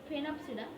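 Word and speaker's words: Sphenopsida: Phenopsida, S is silent.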